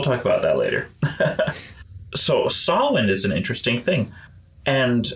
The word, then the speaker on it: Samhain: So Samhain is not much different for our listeners. It's spelled, if you ever want to Google it, Samhain, Samhain.